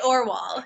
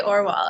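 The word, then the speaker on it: Orual: I say Orwell. Yeah. Okay, Orwell. I'm terrible with pronunciation, so I don't ever trust myself.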